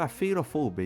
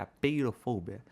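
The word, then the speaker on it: apeirofobia: Um grande exemplo disso é o próprio afeirofobia. E eu sei, eu sei. Tecnicamente a pronúncia certa é a peirofobia.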